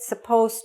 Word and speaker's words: supposed: If you're writing it, remember to spell it with the "d", because when I say it: "supposed to", you don't hear the "d". So don't make the mistake of leaving out the "d" in the word "supposed". Okay? We don't hear it, but you must spell it.